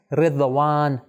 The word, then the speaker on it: رضوان: صحیح تلفظ کیا ہے؟ رضوان. ہم اردو میں کیسے تلفظ کرتے ہیں؟ ہم کہتے ہیں رضوان. کیوں؟ کیونکہ ہم ضاد کو اس طرح جس طرح عربی میں تلفظ ہوتا ہے اس طرح نہیں کرتے.